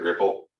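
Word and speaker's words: Replit: Okay, another popular one, Ripple.it, REPL. They decided to pronounce it Ripple.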